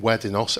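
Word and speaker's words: WEDINOS: And if you go on to the web and type in Weddinos as it's pronounced, you send your drugs to Weddinos, they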